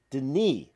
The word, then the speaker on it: Denis: d n i s dropping the E and the S is silent so the song is Den which makes sense because